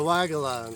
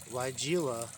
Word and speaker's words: Weigela: The Weigela, say it with me, it's not Weigela. It's actually named after a German scientist. And Weigel is a common German name.